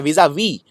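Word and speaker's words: vis-à-vis: याद रखिए विस आ विस नहीं है ये, इसको प्रोनाउंस, इसका उच्चारण किया जाता है विज, ज, जेड साउंड है इसके अंदर, विजा वी, और ये वाला एस प्रोनाउंस ही नहीं होता है।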